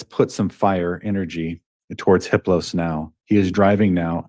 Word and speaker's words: Hippos: a level four entity his name is hippos the H is silent the other three are